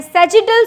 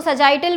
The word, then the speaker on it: sagittal: उसे हम कहते हैं सेजिटल suture. Spelling SAGITTAL, सेजिटल suture, सेजिटल suture. SAGI, हाँ, SAGITTAL, सेजिटल सूचर, ठीक है। डन। आगे चलेंगे, वहां पे इसको सजाइटल भी बोलते हैं, सेजिटल भी बोलते हैं, सेजिटल सूचर।